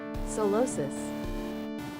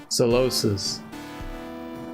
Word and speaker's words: Solosis: It's a psychic type Pokemon with an emphasis on the second syllable commonly referred to as solosis.